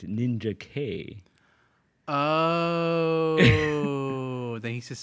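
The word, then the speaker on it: Ninjak: ninj ninj uhuh but his name isn't ninj it's ninja K oh oh then he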